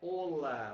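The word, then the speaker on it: Hola: Nunca pronunciar a letra H. Ou seja, aquela saudação do Olá, que tal, né, que a gente tanto conhece, que a gente tanto já familiarizado, né, é Olá.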